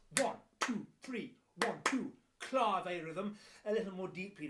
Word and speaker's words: clave: yeah i know it's spelt clave but you pronounce it clave shouted give it a go clave it's spelled